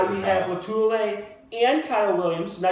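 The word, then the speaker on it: Lotulelei: Latulele.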